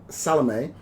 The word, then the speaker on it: Salome: the Trials of Oscar Wilde, The Canterville Ghost, Salome, and The Importance of Being Earnest. You have to say it like Gloria Swanson says it. Salome.